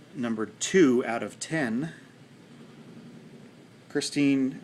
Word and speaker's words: Christine: two out of ten Christine or Kristen I think is how he pronounces it I guess I would too Kristen Michael of the